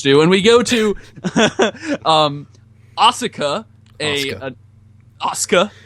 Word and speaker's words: Asuka: And we go to Asuka. Asuka. The U in Japanese is silent, like Shinsuke, Sasuke, Asuka.